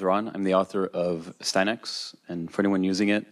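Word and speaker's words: Astyanax: I'm the author of Steinex, and for anyone using it and not knowing how to pronounce it, there you go.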